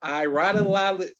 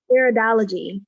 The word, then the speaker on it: iridology: I'm not going to butcher that, but iRadology. Help me out, Saleemah. But yes, that analysis, it can help you with personal wellness. Ma'am, how you say it? Iridology. Iridology. There you go.